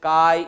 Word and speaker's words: chi: and what about pronunciation pronunciation is Chi e the spelling is CH I Chi Chi E and it is called